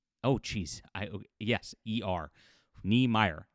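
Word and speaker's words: Niemeier: If you haven't looked him up, here's how you spell it. Brian Ni Mi. Oh jeez. I Yes. Eer. Neyer.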